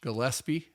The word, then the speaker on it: Gillespie: Today's episode is Gillespie, and I pronounced it correctly that way.